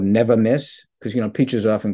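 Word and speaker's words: Nevamyss: it it has much more impact it's called never miss because you know peaches often get frosted by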